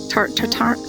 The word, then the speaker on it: Tarte Tatin: So I'm gonna make Mary Berry's apple tart tatin? Is that how you pronounce that? Mary Berry's apple tart tatin. Tarte Tatin.